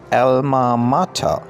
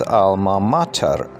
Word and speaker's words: alma mater: If we pronounce this in British way, it is pronounced Alma Mater, and in American or North American style, we pronounce this Alma Mater.